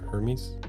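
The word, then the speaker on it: Hermès: it's their fault because Hermes doesn't seem to have the same issue don't you mean Hermes I mean I think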